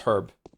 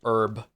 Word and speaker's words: herb: The only one that makes me mad is um is herb. I really dislike it when people say herb.